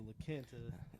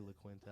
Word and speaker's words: La Quinta: And you already know that I work at the La Quinta. Is that how you pronounce it?